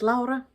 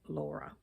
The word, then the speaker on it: Lara: channel I Stitch Birds my name is Lara which is The Finnish pronunciation of the name Laura that makes it easier